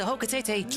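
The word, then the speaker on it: Hocotate: You return to Hokatete triumphantly. And I looked up how to pronounce Hokatete.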